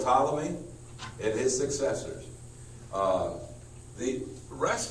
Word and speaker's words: Ptolemy: each of the colonies spelled with a P general Ptolemy and his successors the